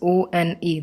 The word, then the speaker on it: one: O is a wall, but when we pronounce O-N-E, that is one. The sound in the starting is of a W, one, V.